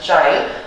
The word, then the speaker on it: Chile: अब आप उसको Chile pronounce करें या Chile pronounce करें, it is up to you. I will pronounce it Chile.